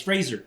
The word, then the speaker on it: Fraser: I'm pronouncing it correctly. It's Fraser, like razor.